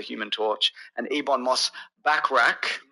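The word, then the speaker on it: Bachrach: Torch and Ebon Moss backrack how do you say that back I'm saying backrack backra like ber backrack like ber backrack uh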